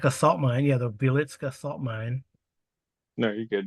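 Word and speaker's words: Wieliczka: Wilcheska? I will find out. Wilcheska. Wilcheska. I think that's how you pronounce it. Wilcheska. Milishevka. Mm-hmm. Wielitska.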